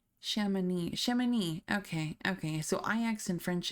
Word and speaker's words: Chamonix: Yeah, pronunciation. Chamonix.